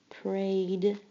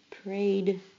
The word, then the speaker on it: prayed: Prayed. Prayed sounds just like it has only a d at the end, but it has an ed.